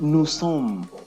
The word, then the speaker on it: nous sommes: We go to the plural part, nous sommes. Nous sommes. We don't pronounce the S, the STD, when they appear at the end of every French word. We don't pronounce them.